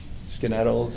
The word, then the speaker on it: Skaneateles: Lakes New York in skin idols or Skaneateles yeah I went to school in New York the only reason I know how to pronounce that okay and it was